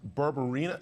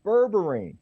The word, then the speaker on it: berberine: for the masses necessarily yeah okay I hope pronounce this right but it's berberina did I say right barbarina oh close close is called berberine now berberine is interesting this is what was called Nature's